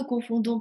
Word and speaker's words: confondons: Обращаю ваше внимание, как и в предыдущих глаголах, здесь во множественном числе «d» произносится, а в единственном нет. То есть «confondons», «confondez», «confondent». И voilà.